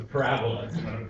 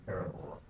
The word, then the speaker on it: parabola: No, it's a parabola. Don't say parabola. You see the passes on the wrong syllable.